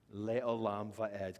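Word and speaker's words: לעולם ועד: So we have the phrase, Leolam Vaed.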